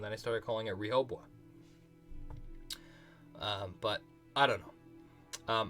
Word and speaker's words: Rehoboam: I started calling it Rehoboam. But I don't know. Elaine says, Rehoboam. English pronunciation. Rehoboam.